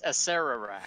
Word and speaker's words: Acererak: By the way, it's Acererak.